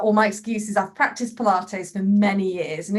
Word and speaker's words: Pilates: Unless you hear someone say Pilates, it looks like pilots.